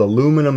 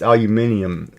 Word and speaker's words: aluminium: Aluminum as they call it in the west. It's called aluminum in the west. It's aluminium in the in proper English.